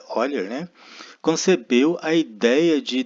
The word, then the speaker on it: Euler: Na metade do século XVIII, o matemático suíço Leonhard Euler, se pronuncia Euler, né, concebeu a ideia de denotar funções pelas letras do alfabeto.